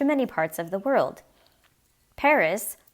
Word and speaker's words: Paris: For example, the word Paris, written the same in English, is pronounced without the final S sound. Paris.